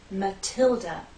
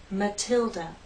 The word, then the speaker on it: Matilda: Stress on the second syllable, Matilda. The T is stressed, so we have a true T sound, Matilda.